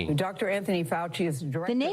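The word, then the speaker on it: Fauci: Anthony Fouchy is director.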